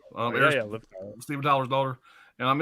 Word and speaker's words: Liv Tyler: It's got Viv Tyler in it. Did I say her name? Oh, Liv Tyler.